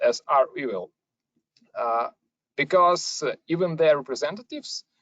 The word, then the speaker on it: REvil: funny fact is that the win answer is rebel but in fact uh the group or this ransomware as a service program it should be pronounced as are we will uh because even their representatives i think many